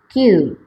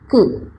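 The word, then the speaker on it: 九: Kemudian kanji nomor 9 yaitu kyu, juga bisa dibaca ku.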